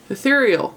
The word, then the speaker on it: ethereal: powder in ethereal light it cracks me up how people pronounce this i i see them look i see them they look at e e tear eterioro what's worse is a lot of these gals i see on youtube beauty gurus half of them can't pronounce common english ethereal white their powders are